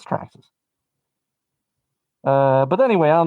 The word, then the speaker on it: Traxxas: but yeah you got to say it right traxxas i even know that i don't even i'm not even an rc and i know it's traxxas uh but anyway i don't know if you're